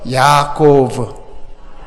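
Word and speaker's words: יעקב: 우리 히브리어 발음을 그대로 한번 해봅시다. 우리 히브리어 공부합니다. 시작. 따라하세요. 야코브. 야코브.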